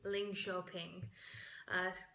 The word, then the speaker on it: Linköping: It's Linköping. Since sounds kind of like Lynn shopping.